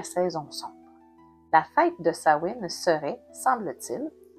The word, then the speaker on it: Samhain: Le samen qui se prononce en réalité Sain est à la fin de l'année celtique qui correspond à la nuit du 31 octobre le dernier jour.